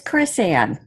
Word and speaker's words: Krisan: It actually is Krisan. Krisan. Close.